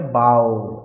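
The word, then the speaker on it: bow: করে সম্মান জানাচ্ছে অডিয়েন্সকে বা শ্রোতাদেরকে। তাহলে সেই ক্ষেত্রে কি হয়? এটা উচ্চারণ হয় বাও, বাও করা। আর আই প্লেস এ বো অন দ্য গিফট, তাহলে বানানটা একই, উচ্চারণটা আলাদা। ওটা বাও, এটা বো।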